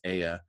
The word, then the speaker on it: Ea: EA, I think it's pronounced Aya.